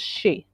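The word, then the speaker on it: sidhe: it the aoshi which the s-i-d-h-e um in his videos there's an a and an o word preceding it and he pronounces the whole thing since i'm no good with any of that i have no gift for language i'm going with his pronunciation so what you've got on the screen he would pronounce as she and so the difference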